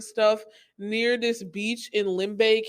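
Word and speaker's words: Limbe: near this beach in limbay cameroon which is my mom's hometown limbae cameroon it's spelled like l-i-m-b-e if you guys like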